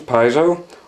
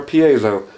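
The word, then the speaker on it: piezo: what we have here here are actual now two pronunciations piso or pazo you go to the company's website and the founder will or the guy who's running it now will pronounce it both ways throughout the video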